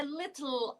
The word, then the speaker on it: little: I spy with my little eye. Repeat after teacher Nick. I spy with my little eye. Little. So British pronunciation, the t has to be a bit plosive and subtle and soft. T, little.